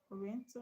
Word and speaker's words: oriental: So rien is where the stress is because you spend more time pronouncing it.